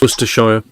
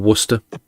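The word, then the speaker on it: Worcestershire: city of wer as well but yeah it's wer sh or Worcester uh how do you say it sh I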